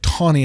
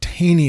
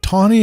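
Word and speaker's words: Taney: The reason I'm pronouncing it Tawny and not Teny is because I've only ever heard it pronounced that way, so I assume that's correct.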